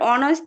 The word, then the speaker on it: honest: হ্যাঁ স্যার, অনেস্ট, HONEST, অনেস্টের আগে অ্যান বসে।